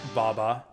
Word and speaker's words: Vava: other stages uh so his Japanese name is pronounced Baba actually I never made